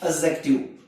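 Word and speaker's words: adjective: अब यहां देखो छोटी सी बात है सीखने की बात, एडजेक्टिव। तो आप ए डी जे जहां भी आएगा वहां डी साइलेंट रहेगा।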